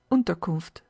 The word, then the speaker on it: Unterkunft: "Unterkunft," Pierre repeated.